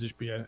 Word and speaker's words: Ishbia: And my bad on the pronunciation. It is Ishbia, and the flop was crazy.